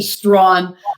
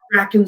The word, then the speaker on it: Strachan: I say Strawn, but people say Strachan, Strachan, whatever they want. I'll answer to any of the above.